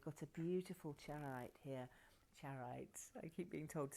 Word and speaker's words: charoite: Charoite, I keep being told to say it properly.